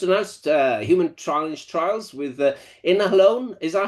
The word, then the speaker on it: Inhalon: You've just announced human challenge trials with Inhalon. Is that how we pronounce it? Yeah, Inhalon, yeah, absolutely.